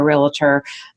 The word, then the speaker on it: realtor: Now let me just go get a realtor. And realtor, I always pronounce that with the 3 syllables. That's two syllables. A realtor. Realtor.